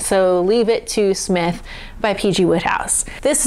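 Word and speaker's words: Psmith: to P Smith or the p is silent so leave it to Smith by PG Woodhouse this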